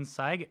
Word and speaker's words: Sayegh: Sayegh. It's like a sigh with a G.